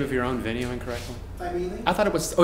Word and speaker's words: Thymele: It parks right out in front of Thymele. Did you just pronounce the name of your own venue incorrectly? Thymele? I thought it was. Oh, it's Thymele. Okay, there's not Thymele. Never forget I said that. You're pronouncing your.